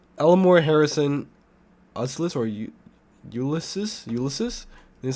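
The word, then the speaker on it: Ulysses: Hill locks Mills Elmore Harrison USIS or ulses ulysis that's how you say it and uh Harrison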